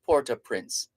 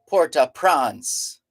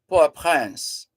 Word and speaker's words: Port-au-Prince: a few years ago the Haitians themselves refer to their Capital as Porter Prince so there's no need to say things like uh Puerto prawns no that's just dancing